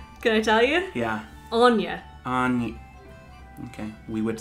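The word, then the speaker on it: Áine: Anya. Okay. We would spell that A-N-Y-A, I think.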